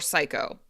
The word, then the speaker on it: psycho: I don't know why we don't say the P for psycho.